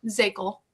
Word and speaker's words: Zichal: name's zichal um in case you don't know how to pronounce my last name because it's nearly impossible as short as it is I'm very surprised how difficult it is so um cycle is what you say I'm also a broker